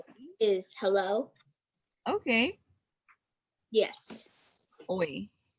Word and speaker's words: oi: Oi is hello. Okay. Yes. Oi. O-I.